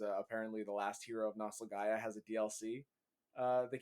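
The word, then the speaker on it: Nostalgaia: the last hero of nostalgaya okay but it's both like Nostalgia nope it's not there's an extra a it's nostal g-a-i-a Gaia because it's supposed to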